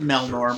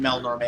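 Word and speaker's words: Melnorme: from the melnon and why I pronounce it Mel Norm rather than Mel Norma is the voice actor's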